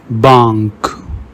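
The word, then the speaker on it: banque: Whenever you see QU, pronounce it like ka in the English word cat. Kel means which. Bank means bank.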